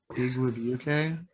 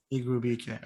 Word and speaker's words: Igwebuike: Oh, Yeah, it's I Igwebuike. yeah, Igwe Igwebuike.